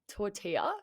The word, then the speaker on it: tortilla: anna i'm gonna get this i think okay tortilla yes yes tortilla yeah like one of my